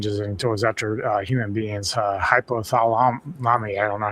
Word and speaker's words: hypothalamus: So, then it changes it into his actual human being's hypothalamus. I don't know how to pronounce that.